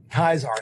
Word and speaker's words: Caesar: Kaisar, thank you. Yes. Yeah, and in Van Buren, they totally would have mangled the pronunciation.